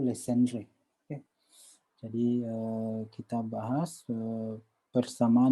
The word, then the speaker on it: Legendre: kita sebut dengan persamaan legendre eh bersamaan Legend foto-foto ini apa namanya orang Paris sini halpah Hai Ni Perancis orang Perancis Mekel tidak salah bacanya itu Lesti Andre jadi kita bahas sekeper